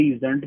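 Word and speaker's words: usedn't: पहला होगा आई यूज done, ये USEDNT है ना, यूजंट, यूजंट है ना, ये डी साइलेंट करके यूजंट बोल दोगे।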